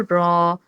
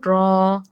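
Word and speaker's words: ر: সামনের পার্ট দিয়ে এখন জিহ্বার ওই আগার উল্টা পিঠটা সেখানে স্পর্শ করিয়ে উচ্চারণ করব র, র।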